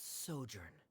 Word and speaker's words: sojourn: is everything clear director's osimos how do you pronounce this word let me see Ah that's sojourn it means to stay for a while this